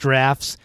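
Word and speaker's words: Draughts: Dr u g HTS so droughts but it's pronounced drafts there's English for you but the main thing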